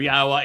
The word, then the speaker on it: Yahweh: 1,000 other Hebrew words, the pronunciation of Yahweh is straightforward. It is irrefutable. The Yod, the He, and the Wah are all vowels.